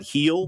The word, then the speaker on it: Gil: It's pronounced John Heel. John Heel. I first look at that and I'm thinking, man, we got to. Why don't they just put a damn H in front of it instead?